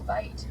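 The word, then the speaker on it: wyd: Because in Afrikaans, the word for wide is vite, V-I-T-E.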